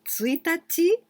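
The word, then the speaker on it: ついたち: to say the day of the calendar so tsuitachi or ichinichi it depends on the meaning of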